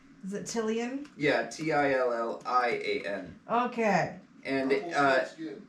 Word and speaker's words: Tillian: you spell it because we pronounced it like three different ways come on at first it was chilling and then it was tolling and now it's totally in tillian yeah t-i-l-l-i-a-n okay and